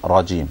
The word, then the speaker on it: رجيم: you look at me, look at how much my lips move when I say shaitan and rajeem, okay? So A'udhu Billahi Minash Shaitanir Rajeem. Very little movement, alright? So try to do the same, okay?